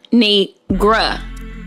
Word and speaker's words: Kinigra: It's pronounced ka. Kinigra.